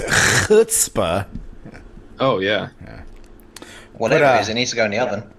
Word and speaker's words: chutzpah: And it's just the sheer audacity of the chutzpah. I mean, it could really only come from. Hold on. You said it wrong. It's chutzpah.